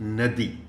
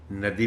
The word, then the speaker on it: ندی: رکنا پڑ رہا ہے۔ یہ لفظ ندی، اس کے دو تلفظ ہیں اور دونوں صحیح ہیں، ندی بھی ٹھیک ہے اور ندی بھی ٹھیک